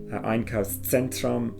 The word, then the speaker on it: Einkaufszentrum: Ein Einkaufszentrum, a shopping centre, and again with the Z sound, try and give that kind of a pizza sound. Einkaufszentrum, examiners will pick up